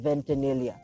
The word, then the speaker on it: Ventanilla: so ladies and gentlemen folks my guest carl ventanilla i hope i pronounced it right yeah actually you did thanks